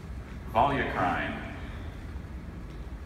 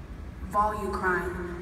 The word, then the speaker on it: volucrine: you saying your name AIA AIA thank you volucrine volucrine may I please have the definition of or